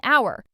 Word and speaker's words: hour: An apple, an hour. Even though our starts with h, it sounds like, a vowel sound.